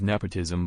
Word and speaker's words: nepotism: It's a 3-syllable word and first syllable is stressed. Meaning is favoring relatives or friends. Let's see how it's practically used. He was justly accused of nepotism because a minister's son got the position.